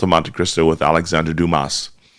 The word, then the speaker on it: Dumas: And it's the Count of Monte Cristo with Alexander Dumas, and or Dumas for those who you want to be more correct in the pronunciation.